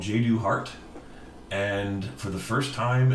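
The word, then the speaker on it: Jadu Hart: But yeah, J.Do. Hart, and it's spelled J-A-D-U and then just Hart, like the organ, but or muscle technically.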